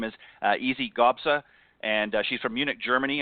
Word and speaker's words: Gabsa: As I mentioned, her name is Gabsa, is how you pronounce it, and she captured her first Symetra